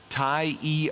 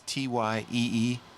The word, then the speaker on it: Tyee: Watch party at the shop at Ty E Archery and Outdoors. Did I pronounce that right? It's Tyee.